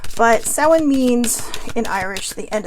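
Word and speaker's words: Samhain: which is um uh some of you may see it spelled as s-a-m-h-i-n that is the Gaelic form in literal text it is spelled s-a-u-i-n so you know that kind of gives you a context in how to say it but someone means in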